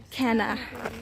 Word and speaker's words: Cana: Cana. Cana. It's spelled Cana, guys.